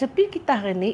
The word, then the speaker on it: Potjie: Senduk Kayu Cooking Show Asslamualaikum & Greeting All Our recipe today is Potjie (pronounced Poy-Key) Potjie means three-legged pot.